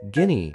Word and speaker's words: guinea: Pronounced guinea pig as ni-p, with guinea pronounced as ginny.